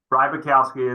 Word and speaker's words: Rybakowski: Rybakowski, it's exactly how it's spelled.